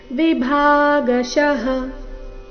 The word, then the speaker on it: ವಿಭಾಗಶಃ: ಮೇಲೆ ಆಗತ ಸೃಷ್ಟಂ ಗುಣಕರ್ಮ ವಿಭಾಗಶಃ ಗುಣಕರ್ಮ ವಿಭಾ ಇಲ್ಲಿ ವಿಭಾ ಬೇಡ ಭಾ ಮಹಾಪ್ರಾಣ ದೀರ್ಘ ಬರಬೇಕು ವಿಭಾಗಶಃ ತಸ್ಯ ಕರ್ತ ಮಪಿಮಾ ತಸ್ಯ